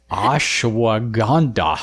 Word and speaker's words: Ashwagandha: And what is the one that I'm not going to be able to pronounce? Ashwagandha? Ashwagandha.